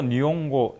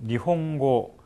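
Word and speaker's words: 日本語: 전공을 하시는이 단어도 니 이게 절대로 니용고 니용고 아니고 니홍고 니홍고 있데 의중에 오다 보니까 이것을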